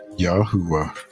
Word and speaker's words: Yahweh: It is the European pronunciation of the creator to be found 6,823 times in the Hebrew scriptures. The name Jehovah should not be mistaken for the correct name of the creator Yahwa.